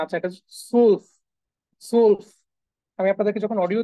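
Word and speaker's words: zwölf: 12 হ্যাঁ আবার হচ্ছে সোল্লফ কনফিউজড হওয়ার কিছু নাই সোল্লফ বারবার শুনবেন এটা বাসায় এই যে মাঝখানে ওমলাউড থাকার কারণে উচ্চারণটা একটু চেঞ্জ হচ্ছে টেন আচ্ছা সেন সেন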